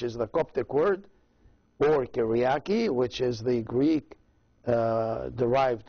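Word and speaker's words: Κυριακή: in the choice of the lord and it's pronounced in in in the word that is derived from greek language as kiriyaki kiriyaki which sunday so for sunday then you can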